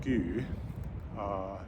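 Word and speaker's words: ský: So I can tell you that, for example, the word this comes from in Old Norse, which is pronounced sku, and is written sol keun ur in Younger Futhark runes, that this is ultimately from an Indo-European root that means to cover.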